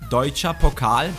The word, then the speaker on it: Deutsche Pokal: That's the right pronunciation, Deutsche Pokal.